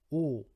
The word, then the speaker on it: 오: A pronúncia é o, o, o.